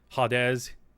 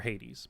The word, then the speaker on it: Hades: I would mispronounce it's I would mispronounce the title every which way. Hadez Hayes Hadez however you can imagine it but never Hades but I can't do that now because I already said it correctly when reading your chat.